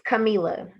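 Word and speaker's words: Kamilah: sunshine is not my real name um it's camila k-a-m-i-l-a-h let me say it again it is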